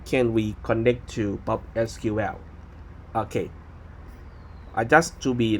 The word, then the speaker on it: PopSQL: So let me go to let you check a bit that how can we connect to PopSQL.